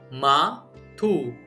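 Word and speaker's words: માથું: So for head, ma thu. For head, ma thu. Okay. For face, cha he ro. For face, che he ro. For eye, kh. Okay. For head, ma thu.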